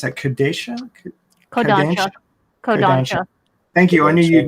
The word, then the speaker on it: Kodansha: So in English, we've got the original Viz translation, and then we got the second translation from, how do you pronounce that? Kodansha? Kodansha.